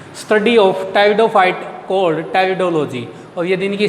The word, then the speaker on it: Pteridophyta: बेटा वो आता है टेरिडोफाइटा। पी यहाँ पे साइलेंट होता है बेटा, PTERIDOPHYT है, तो पी यहाँ पे साइलेंट है, तो इसको ऊपर टेरिडोफाइटा नहीं टेरिडोफाइटा को बोला जाता है बेटा।